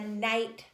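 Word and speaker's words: knight: letter for example night the night thought has a silent K so the sound is actually n nights never would be alliteration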